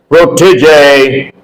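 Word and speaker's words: protégé: Number 5, protege. Protege, last E is also pronounced.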